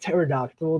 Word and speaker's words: pterodactyl: I think I really like pterodactyl. The silent P is so goofy, and But I feel like pterodactyl.